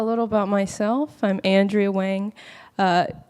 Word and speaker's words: Wang: about myself I'm Andrea Wang uh well I'm Chinese so some people say Wong right and I've had